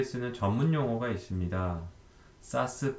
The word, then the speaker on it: SaaS: 사스, 파스, 이아스라고 읽는데 풀어서 얘기하면 소프트웨어 애저 서비스, SaaS, 그 다음에 플랫폼 애저 서비스, PaaS, 인프라스트럭처 애저 서비스, IaaS가 존재하고요.